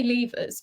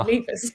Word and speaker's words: Leivars: So I say Leivars, but some people say Leivars. Okay, which is fine. That works too, but it sounds too posh for me, so I always say Leivars instead.